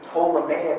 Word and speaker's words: Ptolemaic: And I say Aristotelian hypo Ptolemaic, the P is silent. In the original Greek it was not, it would have been Ptolemy, but in English we don't say that.